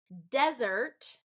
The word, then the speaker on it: desert: just shifting that stress desert noun first syllable stress desert dessert okay dessert